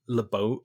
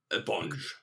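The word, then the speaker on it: LaBonge: And we see this guy heckling him as well, who we later find out is Billy LeBeau. Is it LeBonge or LeBeau? LeBonge.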